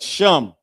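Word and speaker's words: שם: I forget the other one but sham. Sham is how you say name in Hebrew.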